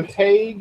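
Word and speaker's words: Hague: So, Andrew Haig, or is out there. Is that how you spell it? H-A-G-U-E? That's how you say it.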